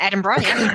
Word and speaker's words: Edinburgh: You guys have L offices in uh Edinburgh. Did I pronounce that properly? Uh yes, kind of. Yeah, Edinburgh.